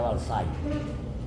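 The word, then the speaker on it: Valcyte: En Estados Unidos se llama Valcite, se pronuncia Valsai.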